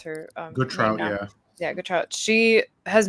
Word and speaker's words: Gautrat: What is that how you pronounce her? Gautrat, yeah.